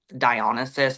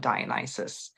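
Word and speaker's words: Dionysus: incredible um relationship with dionysis that's the Greek pronunciation and then um the Brits always have to mess things up so the British tradition is is to to call him dionisis um and he was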